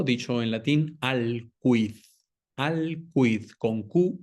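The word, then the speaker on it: aliquid: Acuérdese que en latín cu ui u sí se pronuncia la u, no como en el español que para nosotros es muda en ese caso. Eh, entonces ali quid son dos palabras.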